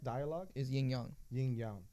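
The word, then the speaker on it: yin yang: hard for it no the correct dialogue is yingyong yingyong it's not yinying is that just an American thing yinyang it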